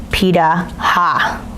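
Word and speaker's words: Pirahã: There's a tiny tribe, the Piraha, pronounced Pida-ha.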